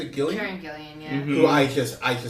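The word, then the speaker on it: Karen Gillan: Karen Gillian, yeah.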